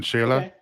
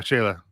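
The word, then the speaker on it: Xela: way tanago and or in shayla and yeah shayla but no one knows how to say that they just see x-e-l-a and they're like how do you pronounce that but uh yeah yeah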